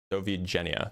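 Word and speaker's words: do widzenia: Dovi Jenna, that's how it's pronounced.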